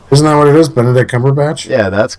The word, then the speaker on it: Benedict Cumberbatch: Oscars this year isn't that what it is Benedict Cumberbatch yeah that's correct but then you're just like